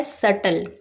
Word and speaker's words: subtle: अब नेक्स्ट हमारा वर्ड है सटल, SUBTLE। इस वर्ड में बी साइलेंट होता है तो इसकी करेक्ट प्रोनाउंसिएशन होती है सटल।